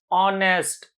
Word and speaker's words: honest: see Amanda not at all we have to pronounce honest honest just tell me honest the first little